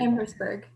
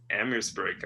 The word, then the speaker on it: Amherstburg: Is that how you pronounce that too? Amherstburg. Amherstburg.